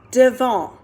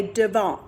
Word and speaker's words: devant: in front of is Devon that's how you say it spelled like devant but we say Devon good job our next